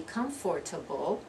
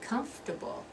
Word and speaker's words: comfortable: syllables a beverage beverage you're not going to be comfortable that's four syllables you're going to be comfortable you're gonna drop that's that second syllable comfortable comfortable and I hope you'll